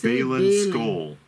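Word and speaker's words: Baylan Skoll: It's Balin Skoll. Balin Skoll. Skoll, like the chewing tobacco?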